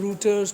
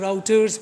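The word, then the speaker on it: routers: Next is रूटर्स, इनको कुछ लोग रूटर्स, कुछ लोग राउटर्स भी प्रोनाउंस करते हैं, इट डिपेंड्स।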